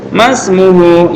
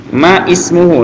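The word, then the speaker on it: ما اسمه: Terus temannya bertanya, Masmuhu ya Ahmad? Masmuhu ya Ahmad. Ma ismuhu, ini kalau dipotong-potong, ma ismuhu ya Ahmad ya, tapi karena ini hamzahnya wasal disambung.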